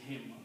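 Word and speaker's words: هِم: the next word is hum but again for the recitation because this is a yah which is sound of Kasra this is pronounced as him Al him upon them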